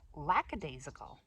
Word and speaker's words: lackadaisical: Lackadaisical. That's the way I've been saying it. Lackadaisical, but it's lackadaisical. I thought there was an S there, but you know, lackadaisical.